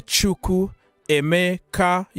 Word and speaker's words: Chukwuemeka: Kane Chukwuemeka. Yeah, Kane Chukwuemeka. How can Chukwuemeka? Like you have to divide it. Like when I learn his name, I have to say Chukwuemeka.